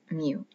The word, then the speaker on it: mu: you from japan is it is either mu or mew it is spelled m-u mu t is a specialty of